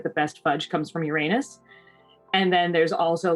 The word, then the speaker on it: Uranus: Is it pronounced that, or is it pronounced Uranus? No, it's most definitely Uranus because of all the jokes.